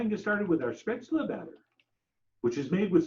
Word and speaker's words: Spätzle: Spätzle, or as the Americans prefer to pronounce it, spatzel.